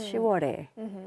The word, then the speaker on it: 10월의: No, this is it's written as 의, but when you pronounce it, it's 10월에.